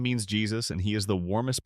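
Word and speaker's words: Jesús: Soos's name is technically Jesus, Spanish for Jesus, pronounced differently.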